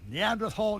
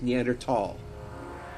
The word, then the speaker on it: Neanderthal: Like the H in there was just not pronounced. It was Neanderthal.